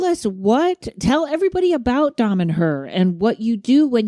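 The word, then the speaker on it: Damanhur: but um tell us what tell everybody about Dom and her and what you do when you go there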